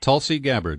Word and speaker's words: Tulsi Gabbard: I don't think I've ever heard it pronounced. No, that's correct. Tulsi Gabbard, uh-huh.